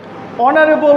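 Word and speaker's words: honourable: আবার অনারেবল, অনারেবল উচ্চারণ করলে প্রথমে আসে অ নার এবং, সেক্ষেত্রে প্রথম উচ্চারণ হয় ভাওয়েল, সেজন্য তার পূর্বে বসেছে এন।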